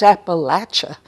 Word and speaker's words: Appalachia: area, and I say, oh no, it's not pronounced that way. It's Appalachia.